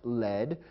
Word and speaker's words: lead: which means directed however there's another word pronounced lead which is spelled the